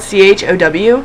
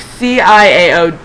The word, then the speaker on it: ciao: But it's like C-I-A-O... C-I-A-O. Yeah, that's it. C-I-A-I... Eeny, meeny, miny, mo? I don't know. Yeah, C-I-A-O. Ciao. It's chow. That's how you say chow.